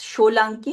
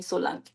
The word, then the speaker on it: Solanky: It's Sholanki actually, but they call me Solanki.